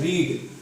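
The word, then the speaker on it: read: Second form भी बिल्कुल एज इट इज की यही होती है, ओनली प्रोनाउंसिएशन चेंज होता है, इसको पढ़ते हैं हम रेड। एंड थर्ड फॉर्म जो रहेगी वो भी यही रहेगी रेड। First form रीड, second form रेड and third form is रेड।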